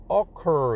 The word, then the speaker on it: occur: 그럴 때는 o의 액센트 앞에 액센트가 있어요. 그래서 뒤에 있는 r이 단자음이 아니고 occur. 그래서 cur가 좀 길어요. 그래서 이제 단자음이 아니라고 합니다.